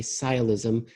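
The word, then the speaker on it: sciolism: word that's the word of the day today sigh ilysm it's spelled s CI o li s m it's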